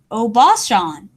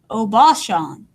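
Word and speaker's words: おばあさん: A grandmother may be Obashan. Once again, I might not know how to say this word, but this phonetic sounding helps me. Obashan.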